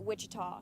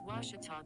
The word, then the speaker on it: Ouachita: oh a cheetah oh back in texas everybody pronounces it wichita but really it's ouachita washington how would you pronounce it it's washita baptist university get it right it's watertall people